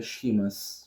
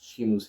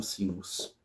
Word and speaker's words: Seamus: Eu até li, não é o nome deles, se pronuncia Shimas. Shimus Hinen, não Simus.